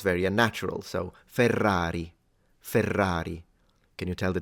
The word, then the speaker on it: Ferrari: would be the word Ferrari because in Italian at least there is a distinction in pronunciation between the single R and the Double R whereby the Double R